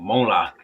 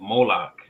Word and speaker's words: Moloch: yeah he took up the Tabernacle of Mona right it's pronounced okay read it again yay you took up the Tabernacle of moloch right so once again because what were we